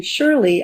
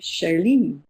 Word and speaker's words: Shirley: And so what I would do was take my name with its American pronunciation and give it a more French pronunciation. So instead of being Shirley, I became Shirley. Shirley.